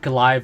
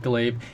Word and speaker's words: glaive: I said Golive instead of Glaive.